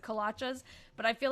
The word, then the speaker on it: kolache: Someone was saying, oh, and don't you dare say kolaches. Because I guess they pronounce it kolachas, but I feel like there's like a lot of different perspectives on that.